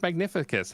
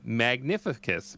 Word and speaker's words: Magnificus: oh my God same also his pronounced magnificus how is that hard I thought it was going to be like a magnifying glass like a pun like a magnifying pun yeah magnificus magnify no more yeah